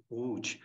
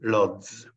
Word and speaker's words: Łódź: We pronounce it Łódź, but majority of the people from outside, from other countries, tell Lodz.